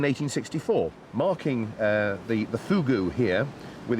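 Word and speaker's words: Fogou: it is no no Fugu I know it's it's spelled f o g u but it's pronounced Fugu oh really it's it's all to do with the pursing of the lips they tell me and is this a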